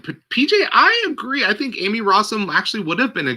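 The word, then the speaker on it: Emmy Rossum: She says it Amy. That's what I read, is that she says Amy Rossum, not Emmy. I've never heard her say it Emmy in interviews.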